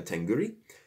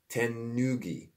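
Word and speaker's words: 手ぬぐい: is inevitably worn a tenguri. Sorry, there's no R in that. Tenugi, I believe, is how you say that.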